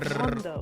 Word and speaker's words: Rondo: So, back to the map that I can't pronounce, which is called Rondo. Rondo.